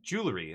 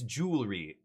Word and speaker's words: jewelry: And I'm like, "Jwelry." And they're like, "It's jewelry."